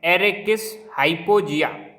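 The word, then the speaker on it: Arachis hypogaea: तो मूंगफली, तो मूंगफली का साइंटिफिक नेम इसको कैसे प्रोनाउंस करेंगे? एरेकिस, इसको पढ़ रहा हूँ मैं, एरेकिस हाइपोजिया।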